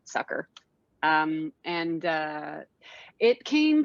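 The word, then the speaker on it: Succor: my short is called sucker it's spelled s-u-c-c-o-r but you pronounce it sucker um and uh it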